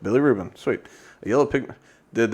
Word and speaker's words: bilirubin: Do you know how to pronounce that? Bilirubin? Billy Rubin. Is that it? Billy Rubin. Yep. Okay, cool. Yep. Bilirubin.